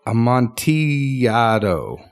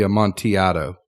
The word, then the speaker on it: Amontillado: and the Cask of Amontillado. Oh, no, hold on. I know. Amontillado. Amontillado. No, because 2 L's makes a Y. It's Spanish. Well, this is English. I know, but it would be Amontillado.